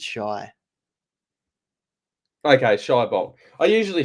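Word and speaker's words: Shai: they actually ask him how to say his name, and he says it's Shy.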